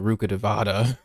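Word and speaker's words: Rukkhadevata: They be pronouncing it Ruka Devata or whatever.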